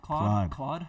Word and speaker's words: Claude: How do you say cloud? Claude. Yeah.